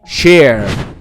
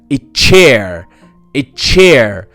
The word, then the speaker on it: chair: طب تعالى اقرأها كده بقى بكرسي share share، يبقى انا لو قلت share ما عادتش كرسي، بقت معناها يشارك. لكن انا لازم انطقها كده chair chair، يبقى لما تيجي السي اتش في اول الكلمة انطقها تشا.